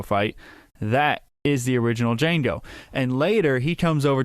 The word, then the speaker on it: Django: he spells it and he says the D is silent and Fran oero says